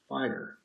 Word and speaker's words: FHIR: families fast healthcare interoperability resources pronounced fire in order for ability